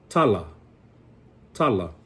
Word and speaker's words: tala: So tala. If you notice, I emphasize the first one because it's the second to the last syllable.